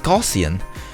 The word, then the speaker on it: Gaussian: I used to say gian, but now it's it's Gaussian because I watched a lot of tutorials that just called it a gossian blur. And I think that's the right way to say it.